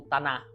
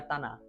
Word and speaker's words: Tanakh: É isso que eles chamam de Tanakh, ou Taná, né? Se escreve Tanakh, se pronuncia Taná.